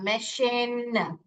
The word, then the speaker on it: machine: यहाँ पे क्या कर रहा है, श का साउंड निकाल रहा है। देखिए यहाँ पे च पढ़ोगे तो म एच इन मैचिन आ जाएगा, आपको पढ़ना गलत आएगा। तो यहाँ पे म एश इन मशीन, मशीन।